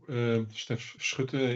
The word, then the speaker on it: Stef Schutte: Yeah, so Stef Schutte is then the formal Dutch pronunciation, and I'm indeed the Global Head of Regulatory Affairs in Astellas.